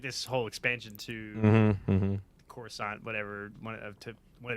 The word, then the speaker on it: Coruscant: Star Wars oh yeah she couldn't pronounce Coruscant she said croissant yeah yeah yeah so